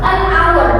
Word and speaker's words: hour: Nah, tapi di sini kebalikan, tadi harusnya pakainya diikuti konsonan, tulisannya konsonan, tapi bacanya bukan konsonan, dia vokal, bacanya hour, an hour, bukan an hour, an hour.